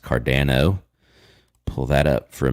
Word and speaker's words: Cardano: Actually, it's pronounced Cardano.